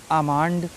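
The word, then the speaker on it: almond: एल डी एफ के एम, एम देख लेते हैं, सी ए एल एम, काम, बाम, पाम, ठीक है, आमांड, ठीक है।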